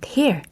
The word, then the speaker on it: tear: 바로 wear and tear. 자, 오늘 많이 봤습니다. 자, 특히 tear 같은 경우는 절대 tear이라고 하시면 안 돼요. tear이라고 발음하셔야 됩니다.